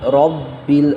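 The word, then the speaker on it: رَبِّ: যেমন আলহামদুলিল্লাহি লাহি রব্বিল, রব্বিল। র বা জবর রব, বা লামজের বিল, বা লামজের বিল, একবার উচ্চারণ হবে, বিল। বিলে হবে না, কখনোই আমরা বিলে বলবো না।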